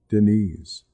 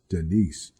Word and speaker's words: Deniz: I knew it as did nice but she said it like Deniz with a Z sound at the end I asked her where